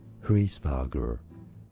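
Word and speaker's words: Hræsvelgr: In English, therefore, so usually said as Hrisvelger.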